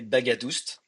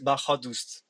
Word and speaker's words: Baghadoust: and my name is, you will say Baghadoust. Oh, Baghadoust. But my father's come from Iran, and the right way to pronounce it will be a little bit different. The GH make a H sound, and the second A is a different A, so it's Baghadoust.